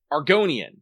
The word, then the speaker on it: Argonian: Argonian. That's what it is. Okay. You pronounce that like the lizard PEOPLE FROM ELDER.